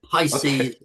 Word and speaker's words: Pisces: Yeah, Pisces. Did I pronounce it correctly, James? Yeah, you did. Pisces as in the zodiac, the sign of the zodiac.